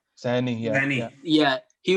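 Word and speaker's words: Saini: Is that how you pronounce his name? Sani, yeah, Sani.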